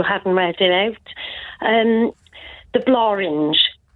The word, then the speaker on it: Blorenge: So I think with the Welsh win tonight, because it's pronounced Blorange and it rhymes with orange.